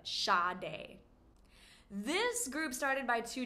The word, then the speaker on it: Sade: This R&B jazz singer, songwriter, amazing artist is pronounced Sade. Not Sade, but Sade.